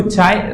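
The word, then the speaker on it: χ: नाम देती है पर इसको चाय प्रोनाउंस किया जाता है एंड इसको ससेप्टिबिलिटी कहा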